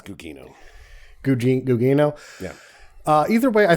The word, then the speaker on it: Gugino: It's Gugino.